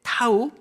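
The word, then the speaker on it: תו: 이고요 어 맨 밑에 22번째 타우 때로는 뭐 타보라고 하는데요 그것도 티 1이고이 두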